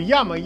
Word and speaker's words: Jamo: Как бы яма, это надо произносить именно так, а не как мы, россияне, читаем Jama.